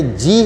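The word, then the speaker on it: じょ: अगर हमें जो लिखना है तो हमने जी लिख के और उसके साथ यो छोटा लगाना है। ये क्या हो जाएगा, जो।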